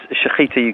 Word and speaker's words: Shechita: Sorry, how do I pronounce this, Mark? It's Shechita UK.